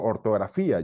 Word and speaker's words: ortografía: miren ustedes de hecho ortografía lleva acento en la i sino diría ortografía por ejemplo diría ortografía y no es lo correcto o el ejemplo que